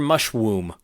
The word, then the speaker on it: Mushwomb: Mushwomb. And I'm not saying that wrong because it's spelled mush w.